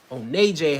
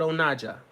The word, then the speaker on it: Onaje: Onaje, as I pronounce it, but Onaja, as it was meant to be pronounced.